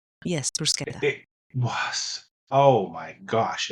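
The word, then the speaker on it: bruschetta: I I I bought so many helpings of I understand the proper pronunciation now because I was very quickly corrected. Bruseta. Yes. Bruseta.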